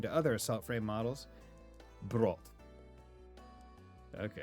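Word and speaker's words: Brot: Brought. Okay. It's not bread, it's brought.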